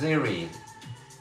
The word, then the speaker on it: Cere: Her name is Zeri. It's spelled Z E R E.